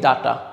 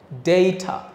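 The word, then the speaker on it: data: এটা আমি কি বলেছিলাম এটা আমরা কিন্তু বলি ডাটা খেয়াল করে দেখেন আমরা কি বলি ডাটা যেমন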